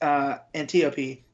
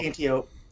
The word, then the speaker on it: Antiope: as well, but it's Antiope is or cool. Antiope. However we're pronouncing it. I'd put Antiope because it's like Aphrodite, isn't it? And, right. So. I just said Antiope because it sounds like antelope.